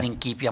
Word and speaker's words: Principia: Principia Matemática. Que además me di cuenta que lo pronuncias como en alemán, Principia, no Principia.